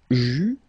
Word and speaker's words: j'eus: Okay, so j'eus, final S not pronounced, tu eus, final S not pronounced, il eut, final T not pronounced, elle eut.